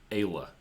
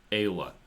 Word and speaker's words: Ayla: So she says her name is pronounced Ayla. Oh, Ayla. So there you go. Ayla.